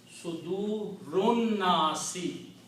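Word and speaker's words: صدور الناس: So it becomes, you do not pronounce alif, sudurunnasi.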